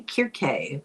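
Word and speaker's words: Circe: Uh, for example, Cersei, I'm going to say Cersei. I don't think it's really a correct pronunciation. Uh, it should be Kirk, but we'll call it Cersei.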